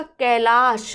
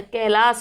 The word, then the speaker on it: कैलास: करिए नेट से आपका कैलाश कैलाश नहीं होता बल्कि क्या होता है कैलास होता है भगवान शिव का निवास